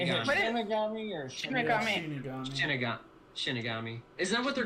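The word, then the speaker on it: 死神: Shinigami.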